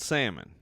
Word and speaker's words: Salmon: It's spelled salmon. Okay. So if you're looking for me online, Salmon, like the fish. That's how you do it.